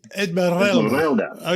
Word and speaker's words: Esmeralda: You took a companion, Esmeralda. Yeah. Esmeralda. You got to roll your R's, man. Esmeralda.